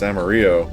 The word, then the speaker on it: Amarillo: or you know that Amarillo that game you play with horses or Amarillo like that terrible country song it's amario it's yellow I'm going to blow